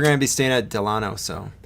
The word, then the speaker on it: Delano: Because we're going to be staying at Delano, so... Delano. I keep saying it wrong. It's about after the president. That's the only reason I can remember.